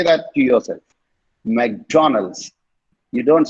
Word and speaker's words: McDonald's: No, McDonald's. நீட்டி கொண்டு போகாதீங்க மெக்டொனால்ட்ஸ் வரைக்கும். Okay, it's McDonald's. McDonald's. McDonald's. Okay, say that to yourself. McDonald's.